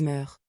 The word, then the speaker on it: meurent: Avec il ou elle, on revient à meur qui se prononce comme meur, mais s'écrit avec ent.